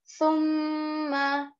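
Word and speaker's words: ثُمَّ: Thumma, in this word, make sure to pronounce the tha properly. It is pronounced very softly and very lightly.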